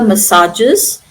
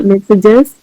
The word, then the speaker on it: massages: Thanks to drainages and regular massages, her knee regained mobility. Thanks to drainages and regular messages, her knee regained mobility.